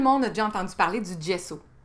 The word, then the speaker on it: gesso: bien entendu parler du gesso on peut aussi le prononcer gso mais à quoi ça